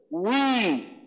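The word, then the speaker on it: وِ: অনেক যারা পুরাতন আরবি শিখছে, আর মানে আগের কালের হুজুররা অনেকে ওয়াওর উচ্চারণটাকে ওয়াউজের বি পড়ে, বি, মানে তারা বলে যে বা, ব এবং ভয়ের মাঝখানে বা ওয়া এবং বায়ের মাঝখানে একটা ইয়া হবে, তো অনেকে ভি পড়ে, তো এটা আসলে ভুল। তো ওয়াউজের হলো উই।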